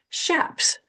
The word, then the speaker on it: chaps: And then she talks about wearing, and she spells it SCHAPS, shaps, which of course is the correct way to say chaps in Arizona.